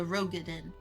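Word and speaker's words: Roegadyn: I keep wanting to call them Rogaden. A Rogaden is how it's pronounced.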